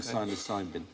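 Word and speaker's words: psilocybin: magic mushroom silos cybin a silent P syosin interesting experiments been done with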